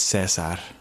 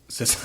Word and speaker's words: Caesar: It's pronounced Cesar. Cesar Cesar Cesar.